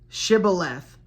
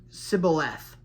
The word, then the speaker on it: Shibboleth: If he said no, then they would say to him, "Please say Shibboleth," and he would say Sibboleth. Right? Slight difference there. Shibboleth or Sibboleth, for he was unable to pronounce it right.